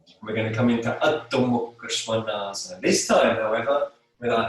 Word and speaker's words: Adho Mukha Svanasana: So we're coming into Adho Mukha Svanasana, down face dog. Adho Mukha Svanasana. Okay, I'll repeat the pronunciation because it's very easy to mispronounce it. Adho Mukha Svanasana.